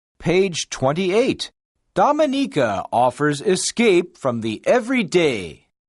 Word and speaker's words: Dominica: of the most unspoiled islands in the Caribbean pronounced Dominica this english-speaking volcanic island is home to about